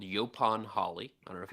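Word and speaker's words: yaupon: o n looks like yaoon but most people pronounce it yopon um it has a very strange scientific name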